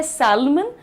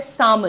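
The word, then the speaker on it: salmon: लिखा जाता है सैलमन लेकिन होता है सामन। The pronunciation is सामन everyone.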